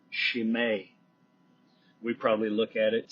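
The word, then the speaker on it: Chimay: brewing a beer called it's actually pronounced shim beer shim we probably look at it c h i m y and call it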